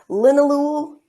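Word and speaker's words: linalool: it mercine so folks are writing this down it's spelled m yr c NE linol l i n a l o o l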